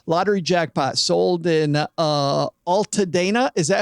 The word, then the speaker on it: Altadena: billion dollar Powerball lottery jackpot sold in uh Alta Dana is that how you pronounce it Len Ulta Dana I pronounce it Ulta Dina Ulta Dina yeah Altadena yes California Lottery officials